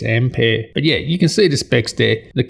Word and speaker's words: Ampere: Based on Ampere architecture, and that's the correct way to pronounce it. It's not Ampere, it's Ampere.